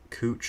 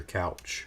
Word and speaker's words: Couch: it would be dasas cooch or couch however however you say his name I know I I I always used to say couch then I hear cooch um yeah cooch in